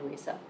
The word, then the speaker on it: Lisa: You can just call me Lisa. and it is pronounced the usual way. It's not Lesa or Liisa.